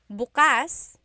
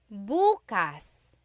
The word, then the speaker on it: bukas: If you say bukas, the emphasis is on the second syllable. That means open. If you say bukas, emphasis is on the first syllable. That means tomorrow. Very interesting.